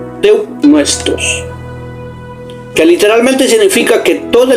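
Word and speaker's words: θεόπνευστος: Y se pronuncia teopnuestos, que literalmente significa que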